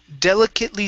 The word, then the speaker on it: delicately: Okay, so the ATE, okay, that's going to be a short I and a T, so delicate.